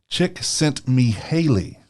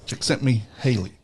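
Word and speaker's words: Csikszentmihalyi: in that and I can't say his name chick sent me Haley there you go okay so chick sent me Haley all right he reached out to interview a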